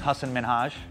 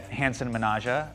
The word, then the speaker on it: Hasan Minhaj: way white people say so my name is Hasan Minhaj I would get Hanson Menasha I'd get Sahand mean